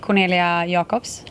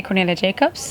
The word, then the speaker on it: Cornelia Jakobs: that's me yes nick oh how do you pronounce your name properly well in swedish in swedish it would be cornelia jacobs right but i usually say cornelia jacobs but i've always also heard cornelia jacobs and i like that too it's so international